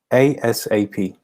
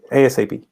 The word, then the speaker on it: ASAP: asap by the way this is how you pronounce it asap you don't say something else you just say asap um five i look into the matter urgently